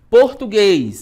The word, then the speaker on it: português: Português, né? Então, separação silábica, português. Qual é a sílaba mais forte? Português, ó, o guês é o último, né?